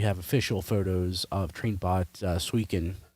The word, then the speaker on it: Suiken: Uh, so something I don't think anybody's passionate about is we have official photos of Trainbot Swen. I can never pronounce the name correctly. Um, no, you got it right.